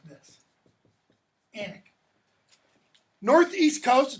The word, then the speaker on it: Alnwick: It's pronounced like this. Alnwick.